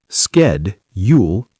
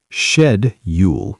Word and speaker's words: schedule: Schedule. Sked, Yule, in American English. Shed, Yule, in British English.